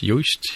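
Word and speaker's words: Joost: gentleman named used or spelt Jo OST but pronounced you wished he says he's talking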